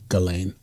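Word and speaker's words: Ghislaine: Jalain. If it's French, it was Jalain. Jalain. There's 15 billion ways to pronounce because she is is English and American, it' be Galain.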